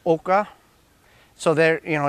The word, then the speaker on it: oca: we're going to plant our AAS now or it's pronounced Oka so there you know